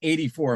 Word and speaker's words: A.D. 4: right so I am here with members of 84 uh to look at it it's like ad4 like the year of Our Lord four but it's pronounced 84 am I am I right guys yes I